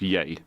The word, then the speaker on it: Ye: legally changed his name to just y yay pronounce yay yay yeah what the that